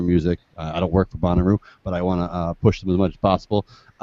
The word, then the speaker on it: Bonnaroo: Like Bonnaroo, Buckaroo? How do you pronounce this? That's how you pronounce it? Yep. Not Bonaro is going on right now in Manchester, Tennessee.